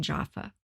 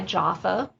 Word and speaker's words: Jofa: find out more information, Jaffa? Well, I've been very blessed to have met many gifted spiritual and metaphysical practitioners through my business, again, which is Spirited Events by Jaffa, which is spelled Jofa.